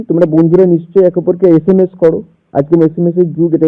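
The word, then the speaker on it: SMS: তোমাদেরকে ওয়ার্ড দিচ্ছি তোমরা বন্ধুরা নিশ্চয়ই একে অপরকে এসএমএস করো আজক এসএমএস যুগ এটা এসএমএস আমরা সবাই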